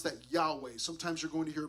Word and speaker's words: Yahweh: of God it's God's name Yahweh we would pronounce that Yahweh sometimes you're going to hear pronounce yve uh you might hear the name Jehovah okay okay that's with you know putting the